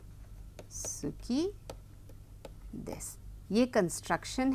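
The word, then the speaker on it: 好き: लेकिन इस समय हम लोग केवल सुकी करेंगे और उसको जापानी में कहा जाता है स्की। सुकी नहीं कहा जाता है। बहुत ज्यादा बहुत हल्का सा उ का उच्चारण किया जाता है।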